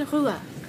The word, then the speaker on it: Ruhe: Lass mich in Ruhe. Lass mich in Ruhe. Lass mich. Lass mich. Mich. Mich. In. Ruhe. Ruhe. Ruhe. Ruhe. It's spelled R-U-H-E. It sounds like Hawaiian again.